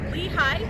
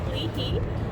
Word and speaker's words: Lehi: talk about the city of lehigh so it's pronounced lehigh not leahey which sounds kind of weird lehigh is in